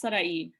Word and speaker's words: Saray: Sarah, is it Saray or how do you pronounce it? It's okay. It's Saray.